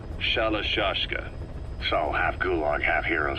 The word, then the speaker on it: Shalashaska: The guerrillas were using the name amongst themselves, and by the time I got to hearing about it, pronunciation had wound up as Shalashaska.